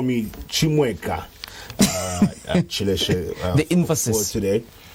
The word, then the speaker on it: Chimweka: Chimweka in this case, from the Eastern pronunciation of my name. So my name has different pronunciations. The rightful one is Chimweka, but I think people have had their own ways of pronouncing it.